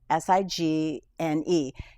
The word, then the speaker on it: Signe: My daughter's name is Signe, Signe. And 5 times they called her Sign.